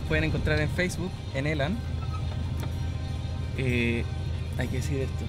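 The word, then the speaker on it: Elanh: encontrar en Facebook en elan Hay que decir esto elan nadie sabe cómo se escribe es e l a n h con h final acuérdense bu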